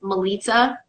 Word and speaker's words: Melita: mispronouncing my name and it's Melita which rhymes with pizza so that was always